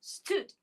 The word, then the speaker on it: stood: Many of us, when we see double O, we think it's a long U sound. No, no, no. In some words, the double O is short U. Stood. Give me the sound in stood. St, U, d. 4 sounds in stood.